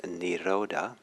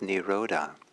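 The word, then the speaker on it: nirodha: it represents that has been being used is niroda and in the 14th step the poly word is v raga the rhoda is spelled n-i-r-o-d-h-a and um and it's sometimes it's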